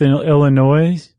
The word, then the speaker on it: Illinois: Followed by Monmouth, Illinois. I forgot the S is silent.